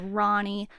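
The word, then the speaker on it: Rony: r o n y you might pronounce it Ronnie I think that it's better to pronounce it roony and I'm like I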